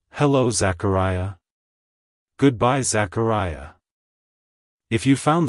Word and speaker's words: Zachariah: from the Hebrew name Zechariah it's pronounced as Zachariah Zachariah Zachariah to pronounce it correctly emphasize the care syllable and make sure to distress the e sound at the end like hello Zachariah goodbye Zachariah if you found the video helpful